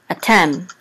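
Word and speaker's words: אתם: accent mark and so the accent is on 10 a 10.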